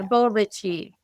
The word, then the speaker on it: Bollici: than it was when I was working yeah bichi bichi I would have gotten that wrong Marita